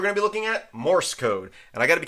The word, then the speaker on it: Morse: my wife informed me I was saying that wrong I kept putting an extra uh vowel in there I kept on saying moris code but it's Morse code not moris code so if I mispronounced